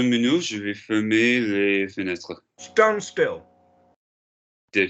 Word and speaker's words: fermer: How do you pronounce ER? A. Right? Fermer. Fermer, yeah?